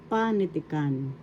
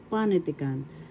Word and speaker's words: panitikan: it bigcas in tagalog panitikan first syllable Second syllable, third syllable t and fourth syllable. The accent is in the first syllable panitican. That's how you say it panitican and literature in English.